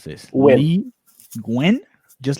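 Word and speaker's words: Nguyen: Lee, let me see, how do you pronounce this? Win. Lee Gwen? Just like that? Gwen? Lee Win, yeah.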